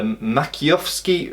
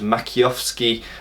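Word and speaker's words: Maciejowski: And if we look at, for example, here I'm going to try and pronounce it, the Makiowski, or it's spelt Makijowski, but I think it's pronounced Makiowski Bible, which is a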